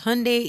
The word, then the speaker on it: Hyundai: And she says, "Hyundai is pronounced like Sunday."